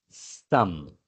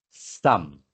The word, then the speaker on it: some: Mas fala-se some. Olha a boca fechando no M final, porque a palavra termina em E o E não é pronunciado. Então é some.